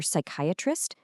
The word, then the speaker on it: psychiatrist: And hey, remember psychiatrist? Yep, that chi in the middle makes a K sound there, too.